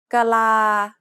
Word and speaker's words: กะลา: กะลา กะลา This abrupt pause sound is often dropped in unstressed syllables, causing the short vowel at the end to continue into the next syllable.